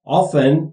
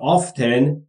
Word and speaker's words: often: Children یعنی بچه ها often یا often دو تلفظش هم درسته همونطور که قبلا گفته بودیم یعنی معمولا یا اغلب ask me از من میخوان به من درخواست میدن for money برای پول.